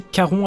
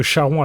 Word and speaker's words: Charon: cendres de Charon : il faut le prononcer "Karon" avec le /k/ plutôt que Charon avec /ʃ/ parce que c'est un mot qui vient du grec.